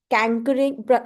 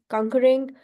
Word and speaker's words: conquering: Somebody used cankering, mispronunciation. Somebody said cankering, which means conquering.